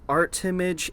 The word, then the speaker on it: Armitage: Granddad whatever Henry Armitage it's pronounced art image it's it's a whole